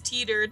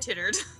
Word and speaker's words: teetered: It's teetered, not tittered.